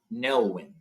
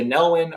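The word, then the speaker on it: Nelwyn: they're called uh NE nelwin um nelwin is how you pronounce them again I'm sorry I'm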